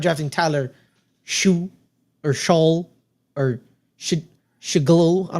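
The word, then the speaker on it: Shough: Schaff. What? Schaff. Schaff? Yeah. But it's a GH. Yeah, that's kind of sometimes makes an F sound.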